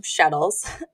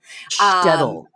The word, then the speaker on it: shtetl: So like my family came from Shettles. Shtetl. Shtettles. Shtetl. It rhymes with like kettle.